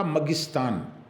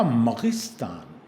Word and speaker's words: مغستان: سوچ رہے ہیں مگستان، میم گاف سین تے الف نون، مگستان. یہ مگ کیا چیز ہے؟ غلط پڑھا تھا اس نے، اس لیے کہ اس نے اس اسپیلنگ کو صحیح نہیں پڑھا. وہ تھا مغستان.